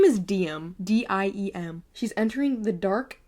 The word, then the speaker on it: Diem: And her name is Diem. D-I-E-M. She's entering the dark world of descended royalty. Who are the descended? Are they vampires by chance? Okay, Luther's the heir of the kingdom. Diem's mother disappeared.